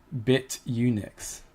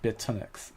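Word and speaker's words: Bitunix: Yeah, Bit Unix. It's not Bit Tonix.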